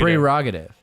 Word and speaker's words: prerogative: It's prerogative. Because it's spelled that way, Oh, which is interesting.